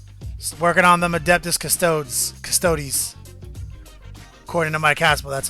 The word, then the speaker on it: Custodes: Just working on them Adeptus Custodes.